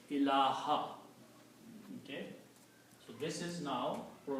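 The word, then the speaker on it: إله: So the word is pronounced as ilaha. Okay? So this is now pronounced, because of the la, is pronounced as ilaha.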